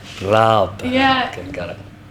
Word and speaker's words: Raab: but- Raab. Raab. Yeah. Okay, got it. It's hard for you to not pronounce the R in the You English have to roll way.